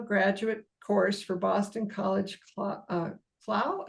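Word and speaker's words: Clough: She still teaches an occasional graduate course for Boston College Clow. How do you pronounce that? Clow.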